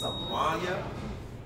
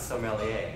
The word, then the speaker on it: sommelier: I don't want to pronounce it the wrong way, but it's Somalia. No, it's sommelier. Sommelier. Sommelier, exactly. What is that? French? Sommelier, it's a French word.